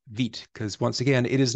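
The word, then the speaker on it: Vite: some people pronounce it vit some people pronounce it V um but I do believe that this is the pronunciation that the authors um intended was vit because once again it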